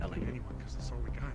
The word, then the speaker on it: Ali: Yeah, it's spelled Ali, but it's pronounced Ellie.